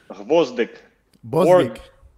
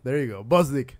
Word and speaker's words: Gvozdyk: This is the way of my pronunciation. Pronunciation is really bad. So, GVOZDYK. Yes. There you go. GVOZDYK.